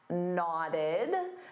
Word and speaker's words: nodded: Now the woman nodded. So to nod, notice that pronunciation in the past simple, nodded.